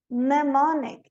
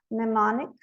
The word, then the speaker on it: mnemonic: Mnemonic, esse primeiro M aqui não é pronunciado. Mnemonic. O N final, autumn, termina em M, autumn, column.